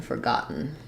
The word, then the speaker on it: forgotten: not forgetting forgotten um we have the stress on the second syllable so in both forget and forgot and forgotten all of those words are stressed on the got so syllable and so letters f o r actually don't say for in these words they say f um so I would write it like for got gotten gotten um so we